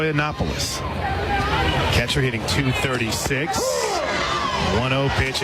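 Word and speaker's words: Koutsoyanopulos: Harry carry yes please k o u t s o y a n o p u l sounds exactly like it's spelled is Right copoulos catcher hitting 236 10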